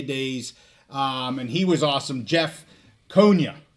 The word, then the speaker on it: Jeff Konya: Jeff Konya. I said it right that time.